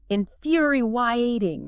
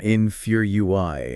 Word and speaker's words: infuriating: Lisa emphasizes that second syllable stress. Infuriating. Infuriating. And she points out the fu is like few and there's almost this tiny extra vowel glide between the i and the a.